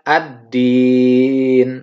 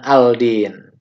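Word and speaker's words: الدين: umit di Gin jadi kita bacanya ad-din bukan al-din kemudian disentuh yang ketiga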